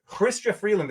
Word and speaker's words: Chrystia Freeland: Chrystia Freeland, as she made it clear, that is how she pronounces her name.